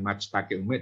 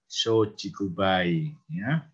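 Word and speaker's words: 松竹梅: ada ada matsutake Umi tapi kan bacanya bukan maxtack ilmu tapi shochikubai shochikubai kemudian ada W nachster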